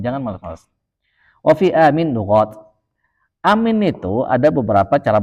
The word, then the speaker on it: Aamiin: banyak maka kita ucapkan Amin jangan malas-malas Wafi aminat Amin itu ada beberapa cara bacanya am jadi kata Syekh Bilal kalau di sanad kita itu BAC dua harakat aja sebenarnya itu amin amin nah gitu Udah paling